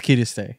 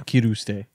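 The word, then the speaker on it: Kirisute: Oh, yeah, because it's Kiriste, Yeah. not Kiruste.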